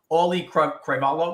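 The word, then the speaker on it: Auliʻi Cravalho: just but it's so hard to say is Ollie cravalo am I saying it right nobody knows but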